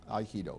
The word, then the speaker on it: Aikido: So basically, the basic principle of the Aikido, am I correct pronouncing? Yes, Aikido.